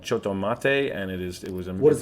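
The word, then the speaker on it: Chotto Matte: It's called Choto Mate. That's Choto Mate. CHOTTO or TO, and then Mate MATE or MATTE.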